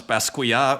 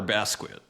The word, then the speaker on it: Basquiat: as he calls him, to bring up old debates on how to pronounce Basquiat or Basquiat. I go with the American pronunciation, just because he was American.